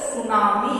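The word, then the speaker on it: tsunami: उसी तरह से टी एस के साथ यहाँ कॉम्बिनेशन बना रहा है, टी एस एन ए एम आई, यहाँ टी साइलेंट होगा तो सुनामी है इसका प्रोनाउंसिएशन।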